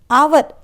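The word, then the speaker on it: hour: reach an आवर अगो आवर यहां एच से start हो रहा है वर्ड आवर लेकिन इसका प्रोनंसिएशन हम आवर आ साउंड से प्रोनंसिएशन स्टार्ट कर रहे इसलिए इसके पहले एन आर्टिकल लगेगा द ऑफिसर इज एन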